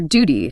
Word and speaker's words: duty: It's your duty to tune the new guitar. Feel that little J sound sneaking in for the British version.